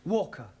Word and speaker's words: Walker: she is a Slave drivers at Mrs Walker Walker what w is pronounced W your employer's name is Walker yeah